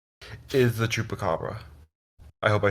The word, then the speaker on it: Chupacabra: my favorites I have to say is the Chupacabra I hope I said that right sorry to